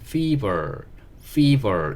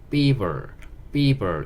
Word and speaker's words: fever: 이렇게 얘기할 때 쓸 수 있는 단어고, 단어만 보면 fever 이렇게 발음을 하셔야 돼요. F 발음이라서 F 발음을 정확하게 해주셔야 되는데, F 발음 정확하게 해서